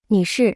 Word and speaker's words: 女士: 女士女士是 Se pronuncia con el cuarto tono. Hablemos un poco sobre la diferencia entre 女士、 y.